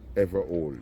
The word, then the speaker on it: Everole: You break it down, ever old.